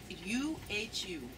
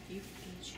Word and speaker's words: Uhu: How do you spell it? U-H-U. U-H-U.